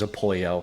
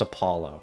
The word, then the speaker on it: Apollo: He says his name's Apoyo. I know it's pronounced Apollo.